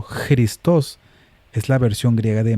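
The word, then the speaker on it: Χριστός: Cristos pronunciado Christos es la versión griega de Masiaj.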